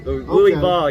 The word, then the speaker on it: Louisville: uh from louisville kentucky louie ball you got to say it right man louisville kentucky okay